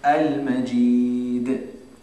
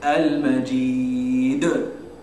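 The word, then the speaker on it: المجيد: And so this is going to be thin, right? So how do we say it correctly? How do we make something thin? Smile. So al-Majid. Al-Majid. Yeah. So we wouldn't say al-Majid, right?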